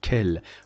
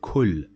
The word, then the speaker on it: quel: This O at the end is not pronounced, and we pronounce this kel. Why we don't say it kul?